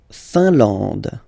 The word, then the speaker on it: Finlande: La Finlande, I-N here, nasal, un, A-N, nasal, en, and then D, final E, not pronounced.